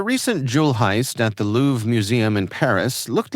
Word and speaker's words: Louvre: Well, documents now reveal that the Louves surveillance server once required a password.